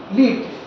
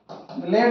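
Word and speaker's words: lead: উদাহরণ রাজস্ব লিট, L-E-A-D, লেট। যখন L-E-A-D এটা তখন লেট, লেট, লেট উচ্চারণ যখন হবে তাহলে লেট ইজ a metal, লেড একটা ধাতু। আর যখন এই একই বানান উচ্চারণ লিড, লিড, লিড মানে নেতৃত্ব দেওয়া, নেতৃত্ব, তো এই যে বললাম নেতৃত্ব দেওয়া।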